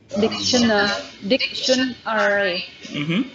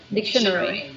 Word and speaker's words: dictionary: Most Americans pronounce the word dictionary like this, dictionary. But the British pronounce it like this, dictionary.